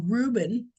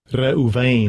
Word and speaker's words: Reuben: find the name of Reuben. Yeah, come on. And Rehoban, let's see how it's pronounced. Strong's H 7205. Reuven. Rehoban. Reuven. It's not Reuben. We pronounce it Reuben. They pronounce it Rehoban.